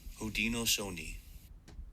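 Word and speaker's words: Haudenosaunee: it's pretty short the correct pronunciation of this word is OD no Soni now it's your turn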